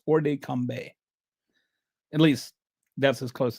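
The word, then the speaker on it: hors de combat: First of all, this uh orde combe it's the T is not pronounced by the way. I've I don't know French, but I've kind of looked up how to pronounce this. It's not or de combat or something.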